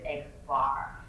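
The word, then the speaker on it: x̄: And we pronounce this guy here as X bar.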